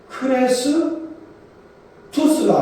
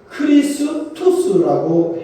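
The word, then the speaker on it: Christus: 근데 그리스도를 어 그 로마 말로 어 정확하게 말한다면 크리스라고 해야 된답니다. 그 저 헬란말이 말이잖아요. 그런데이 헬란말을 로마로 음력을 하면 크레스 투스가 아니고 크리스투스라고 해야 옳다는 것입니다.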